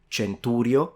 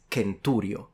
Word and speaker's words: centurio: for an ancient Romans was pronounced like a k and we have a lot of proof for this so it's not centurio it's not Centurion it's kenturio it's kentum not chantum